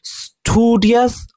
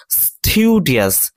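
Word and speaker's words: studious: আর এখানে যে শব্দটি রয়েছে এটার উচ্চারণ স্টুডিয়াস অথবা স্টিউডিয়াস দুটোই হয়।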